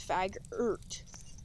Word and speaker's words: Faggert: It's Faggart. Yeah, like how you think. It's like yogurt, but with an E instead of a U.